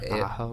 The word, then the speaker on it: Aho: Aho or something? Sebastian Aho, yeah.